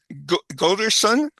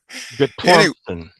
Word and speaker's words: Guttormson: It's Guttormson. Anyway, Guttormson. Guttormson. Put the emphasis on the second syllable with some Norwegian twang, and then you got it.